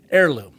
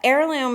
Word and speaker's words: Airloom: Yeah, Heirloom is spelled phonetically, right? Yeah, exactly as right. opposed to the real word heirloom, which has a silent H.